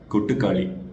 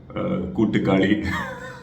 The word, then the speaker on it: கொட்டுக்காளி: இந்த பேரை ப்ரொனவுன்ஸ் பண்ணுறதுக்குள்ளே நான் ஒரு வழியாயிட்டேன். ஏன்னா இந்த பேர் வந்துட்டு நமக்கு ரொம்ப புதுசாக இருக்குது. ஸோ அதனால் கூட்டுக்காளி அப்புறம் வந்து காட்டுக்கோழி அப்படின்னு சொல்லி கடைசியில் வந்துட்டு படத்தோட பேருக்கு வந்திருக்கோம், கொட்டுக்காளி.